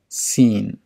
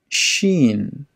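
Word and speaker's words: شين: group of letters sheen do not say seen instead say sheen shin sword do not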